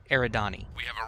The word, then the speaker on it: Eridani: the Light Horse guys I totally mispronounced the stupid thing it's Eridani so the Eridani liked